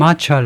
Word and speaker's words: matcha: 영국식 발음은 matcha. 미국은 좀 가볍게 matcha. 앞에다 액센트를 두니까 뒤에는 반모음이 되세요. matcha는 아니고 matcha라고 읽는다 이건데요.